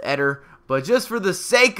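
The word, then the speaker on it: Éder: I think his name's actually pronounced Eder.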